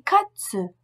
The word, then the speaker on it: Katze: La prononciation de Z est TZ. Z, TZ. Le Z allemand et le TZ se prononcent de façon identique et correspondent à une attaque dure. Ts, TS. Ts. Comme la mouche TZ. Die Zone, la zone.